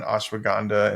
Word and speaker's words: ashwagandha: I just discovered ashwagandha, or how do you say it?